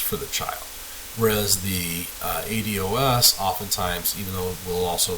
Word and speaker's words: ADOS: The gold standard for assessments for ASD is an assessment tool called the ADOS. I've heard this pronounced ADOS. I've heard it pronounced ADOS. ADOS is what I'm going to say.